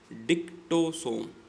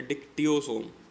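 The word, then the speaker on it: dictyosome: क्या है ये, इसकी प्रोनाउंसिएशन डिक्टोसोम, ठीक है, या डिक्टियोसोम। ऐसी प्रोनाउंसिएशन के ऊपर ज़्यादा टेंशन लेने की चीज़ नहीं है, क्योंकि अगर कोई आप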